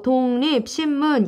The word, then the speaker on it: 독립신문: 보여줄게 요렇게 어 문진희 똑 이라고 읽으면 안 되고 독립 신문 이에요 근데 이런 조선 어떤